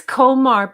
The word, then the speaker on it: Qomar: It's Komar, but they spell it Qomar, I believe.